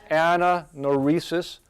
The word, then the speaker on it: anagnorisis: you guys say that so we got silent G there Anna no rhesus which is us it's